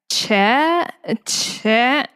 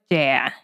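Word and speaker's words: chè: Che. No, it's dea. Che. Am I saying it right? Am I saying? No, it's just dea. You kind of make like a downward tone with like the e.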